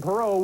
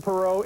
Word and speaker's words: Perot: Anyone who pronounces the silent T in Perot will be ejected from the auditorium.